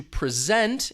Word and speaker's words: present: That's different than the verb to present, in which case you hear that stress on the second syllable.